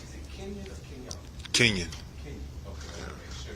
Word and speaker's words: Kenyon: So Pete said how to pronounce it. Is it Kenyon or Kenyon? Kenyon.